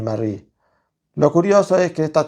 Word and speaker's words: Marie: a escuchar que indistintamente yo puedo decir Marí, como decimos acá en Argentina, Mary, como por ejemplo podría llegar a ser una pronunciación más anglosajona y Marie que es esta pronunciación sueca que aprendí, que tampoco sé si está bien o está mal, pero bueno, son mis